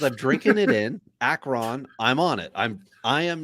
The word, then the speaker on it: Akron: Akron, you said that your pronunciation was Akron. It's Akron.